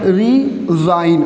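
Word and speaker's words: resign: Okay, अब देखो जो हाइफन वाला है, हाइफन वाला है ना, इसको हम लोग स से प्रोनाउंसिएट करेंगे रिसाइन, एंड जो विदाउट हाइफन है उसका हम लोग क्या करेंगे, ज साउंड से प्रोनाउंसिएट करेंगे, लाइक रिजाइन। Okay, रिजाइन।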